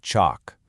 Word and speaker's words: chalk: Okay, so if you're in the UK, you're probably going to say it with a longer vowel, kind of like chalk.